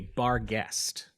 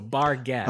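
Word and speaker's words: barghest: like that and then it's generally accepted that guest is the northern English pronunciation of the word ghost so bar guest oh okay you're actually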